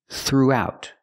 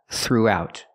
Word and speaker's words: throughout: your voice through throughout we have the ooh sound like Moon and soon through plus the ow